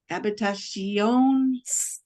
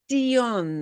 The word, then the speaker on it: habitación: You pronounce the C-I-O-N, habitation. Sion. I hear a little sh, sh, sh. There is no sh.